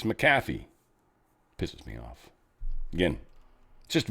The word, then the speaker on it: McAfee: So this is Macaffy, not McAfee. Even though everyone says McAfee, it's Macaffy.